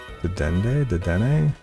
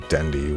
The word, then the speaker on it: Dedenne: Dedenne? I see his name and I try to pronounce it Dendi, which obviously Dendi's not a Pokemon.